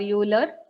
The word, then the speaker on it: Euler: I don't know whether you call it as Euler or Euler, whatever.